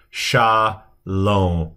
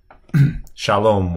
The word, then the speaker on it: shalom: So shalom, and this is a final mem. So shalom, shalom, with the accent being more on the end.